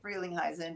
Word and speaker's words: Frelinghuysen: Yeah, well, it is because it's a Dutch name, but it's not. That's not how you say it in Dutch. But we say it Frelinghuysen in English, and it's a huge, huge place.